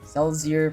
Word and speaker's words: Celsior: Celsior. Oh, Celsior. I read it as say, like I. Celsior pronounced as the I in the correct way.